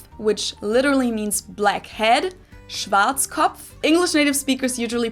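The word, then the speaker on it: Schwarzkopf: Schwartzkov. English native speakers usually pronounce it Schwarz cop or Schwartz cough or something along those lines.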